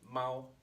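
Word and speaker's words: 猫: Now that we have miao established, it makes sense that this pronunciation goes with animal to make mao, cat. So it is still a lot to remember.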